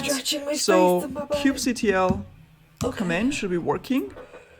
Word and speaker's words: kubectl: kubectl Okay. command should be working. So kubectl, let's see. Cube starts with a K. Cube. Kubectl. Did not know how to pronounce that yesterday.